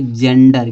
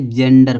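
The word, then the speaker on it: gender: जानिए कहाँ जा होता है इसका, जब जी के बाद ई आई वाई हो तो जी का उच्चारण जा होगा।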